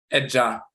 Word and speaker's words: Edja: Edja, Padie, heritage, inheritance. That's how they say it amongst the Akan in Ghana.